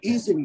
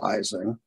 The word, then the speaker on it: Ising: I think it frustrates some German speakers because we mispronounce his name. Isinglass, which is something totally different, is pronounced Ising. But some are just used to it and everybody just says Ising, even though we all know it's mispronouncing his name.